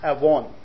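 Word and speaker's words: עָוֹן: all the Hebrew word there for iniquity is pronounced Aon it is an interesting word and it's interesting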